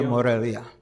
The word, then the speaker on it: Morelia: And he was only invited to the Morelia, did I say it right? Yeah, Morelia. Yeah, Morelia portion of it, not the Jalisco portion of it.